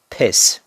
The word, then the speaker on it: piss: piss piss piss urinate this one is a very short e sound so it's piss piss piss a lot shorter and number 24 we